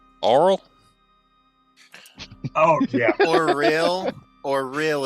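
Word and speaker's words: Auril: oh yeah for real or real is how you say it it sounds like you're saying oral like mouth oh oh real what's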